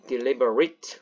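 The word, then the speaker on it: deliberate: 어떻게 합니까 딜리버레이트가 아니겠죠 동사일 때만 a2고 동사 아니면 이트는 아트죠 그래서 발음이 deliverateliberated 의도적인 계획적인 리브라 하면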